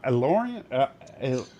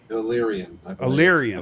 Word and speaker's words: Illyrian: she's an uh uh elorean allorian is that how you say it illyrian illyrian thank you elyrian uh that so